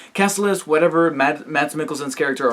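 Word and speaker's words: Kaecilius: learned that Casillas Cassilis I was mentioning his name wrong in the review i'm sorry i kept saying caches for some reason but it's Cassilis whatever mad matt's Mickelson's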